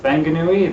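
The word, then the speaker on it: Whanganui: when um wh like wanganui is pronounced fanganui that was weird to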